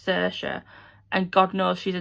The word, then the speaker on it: Saoirse: So her name's Saoirse, but literally within the first 2 pages...